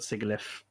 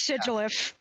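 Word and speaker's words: Sigilyph: Isn't it Sigilif? Because it's sigil. It is Sigilef. I know. It's so funny because I was thinking I used to pronounce it wrong. How did I pronounce it? And the incorrect prononciation is what we were saying. It is Sigilef. It's like all my life. I get it because it also comes from glyph.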